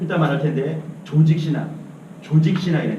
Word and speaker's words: 조직신학: 조직신학. 발음을 잘해야 돼요. 조작신학이 아니고 조진신학이 아니고 조직신학입니다.